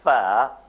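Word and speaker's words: ف: For the pronunciation of fa, what is happening now? The upper incisors the edge of upper incisors touches what? The dry portion of the lower lip.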